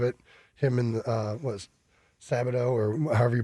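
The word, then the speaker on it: Skattebo: him and uh what Sabado or however you pronounce the running back. Uh the Scataboo. Scataboo.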